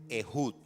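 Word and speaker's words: Ehud: En la en el texto hebreo realmente no dice aot, dice Ejud.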